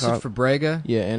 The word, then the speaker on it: Fabrega: comp- Fabrega? Yeah, and It it's sounds like Fabrizia.